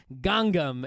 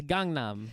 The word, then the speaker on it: Gangnam: and and you're like gangam it's like no there's another n in there it's Gangnam I think what it